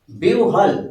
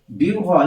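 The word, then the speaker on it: বিহ্বল: সাথে যদি ব থাকে হ এর সাথে যদি ব ফলা যুক্ত হয় সেক্ষেত্রে উচ্চারণটা একটু অন্যরকম হয়ে যায় বিউহল একটা হস্ বিউহল এইরকম চলে আসে এইরকম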